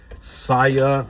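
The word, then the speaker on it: SAIA: I mean, when you have companies like Sia, I think it's spelled S A I A, and they have positions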